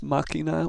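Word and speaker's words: máquina: Why it was decided that the word would be pronounced machina with the emphasis on the first a.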